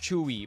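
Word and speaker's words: Tzuyu: Oh, it's pronounced Chewy.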